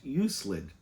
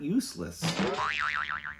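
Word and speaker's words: Euclid: And please, it's pronounced Uselid, not useless.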